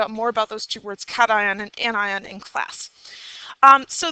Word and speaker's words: cation: We have a name for that, and that's not pronounced cation. It is pronounced cation because we want to keep the ion there.